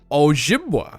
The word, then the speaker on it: Ojibwa: Oh, How is that pronounced? Ojibwa.